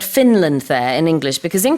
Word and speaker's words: Finland: So in English, you have to pronounce the N in Finland.